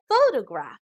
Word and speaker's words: photograph: syllables faux toe graph the emphasis or stress is given on the first syllable so we pronounce this as photograph now compare this to